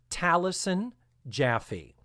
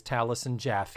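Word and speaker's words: Taliesin Jaffe: far as my research tells me, it is pronounced Talison Jaffy. It is T A L I E S I N. The actor. Yes. J A F E. Yes. That the actor is Talison Jaffy.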